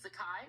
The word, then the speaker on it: Zakai: sakai first of all i'm pronouncing your name correctly it's sakai right yes i'm gonna make sure